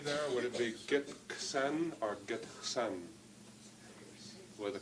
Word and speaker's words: Gitxsan: Would it be Gitxsan or Gitxsan? With a K or an X? Gitxsan. Once more? Gitxsan. Okay. Your pronunciation has, rather than K, it has an X.